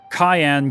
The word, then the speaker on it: Cyan: of Doma alone Samurai stands Above the Rest Cayenne gamond retainer to the king and devoted husband